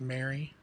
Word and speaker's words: Marie: My mom's name is spelled Marie and it's pronounced Mary, but it could be Mary or Marie Lou.